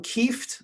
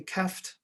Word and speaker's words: Kieft: to pronounce his name it's willem kieft i think but it might be keft let's call him kieft so he came over